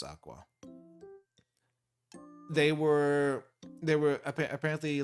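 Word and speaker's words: Aqours: love live aurus Aqua I call them aorus because that's how it's spelled but apparently it's Aqua they were they were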